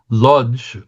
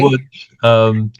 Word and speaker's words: Łódź: Andrew, we're going to go to what Jews pronounce as Lodge, Wudge. Woods? Oh, sorry. Wudge is the pronunciation in Polish, I believe.